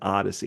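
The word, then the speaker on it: OHDSI: the Hades so Odyssey the pronunciation of hdsi is Odyssey and unfortunately we kind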